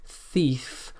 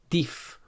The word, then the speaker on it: thief: This is an unvoiced sound. The most common mispronunciation here is to pronounce this sound as a d or a t, like ting or ding for thing, bat or bad for bath, or dif or tif for thief.